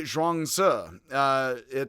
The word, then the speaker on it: Zhuangzi: purpose, but is today Zhuangzi, Z-I, which is Zhuangzi, not just Z, Zhuangzi, as if it's UH, on the end.